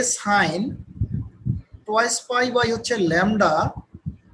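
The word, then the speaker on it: psi: হচ্ছে ফাই, এটা হচ্ছে সাই, পিএসআই, এটা হচ্ছে সাই, উচ্চারণটা হচ্ছে সাই।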